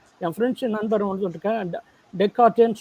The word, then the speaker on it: Descartes: என்னன்னா இவ்வளோ சிரமமான ஒன்று நமக்கு டெஸ்கார்டஸ் தமிழில் இருக்குது, இங்கிலீஷில் எழுதுறாங்க. என் ஃப்ரெண்ட்ஸு நண்பர் வந்து இருக்கேன், டெக்கார்ட்டேன்னு சொல்லணும், அதை டெக்கார்ட்டேன்னு ப்ரொனவுன்ஸ் பண்ணணும்னு சொன்னார்.